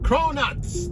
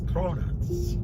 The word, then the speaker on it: cronuts: they have different flavors cronuts not Donuts cronuts it's two syllables right crow like and